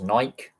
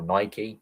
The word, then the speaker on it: Nike: You see how the NHL have Fanatics, the NFL has Nike or Nike, depending on how you pronounce it, as their supplier for all kits for the entire league.